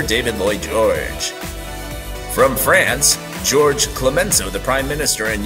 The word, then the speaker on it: Georges: Lloyd George from France Georges Clemenceau the Prime Minister and yes the S is silent and from Russia the